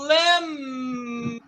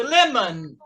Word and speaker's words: lemon: Se eu subir o O vai ser fraquinho. É como se ele não existisse. Então, lemon. Repito, lemon. Isso. Vamos abrir mais esse O aí e falar lemon.